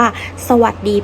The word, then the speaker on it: สวัสดี: คำ นี้ นะ คะ ให้ เด็ก ๆ ออก เสียง ว่า สวัสดี ไป ก่อน เลย นะ คะ เพราะ ว่า เป็น คำ ที่ มี การ ออก เสียง อะ กึ่ง เสียง และ ก็ ยัง สะกด ไม่ ตรง มาตรา ด้วย นะ คะ ให้ เด็ก ๆ